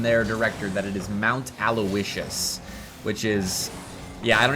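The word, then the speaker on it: Mount Aloysius: First of all, uh second, it's Mount Alawishas, which is how you pronounce that. By the way, there there are a lot of people that think it's Aloyius, but um I've gotten confirmation many a time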